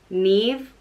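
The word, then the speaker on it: Niamh: goddess of beauty and brightness and neave is pronounced neve or me f again kind of the extra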